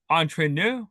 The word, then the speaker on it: Entre Nous: It's Entre Nous, like if with a French accent. Yeah, Entre nous. Entre Nous. Yeah. I have no idea, but that's the next song, Entre Nous.